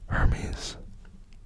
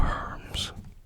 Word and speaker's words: Hermes: Hermes. Or Hermes. Could pronounce that Hermes if you so desired.